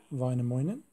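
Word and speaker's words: Väinämöinen: man in the california story is this chap vinemoinen so that's uh apparently how we pronounce it but let's get back to the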